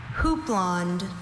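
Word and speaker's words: houppelande: Your word is hooplond. Could I have all the information, please? Hooplond is the only pronunciation at this entry.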